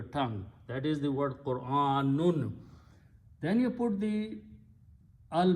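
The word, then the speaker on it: قرآن: In either case, most of the people say this word wrong. They say Quran, Quran. It is not Quran. Qur'an. Qur'anun. If you stop, it says Qur'an, not Quran. Okay. If you say Quran, that means you are saying combining these two and say Qu.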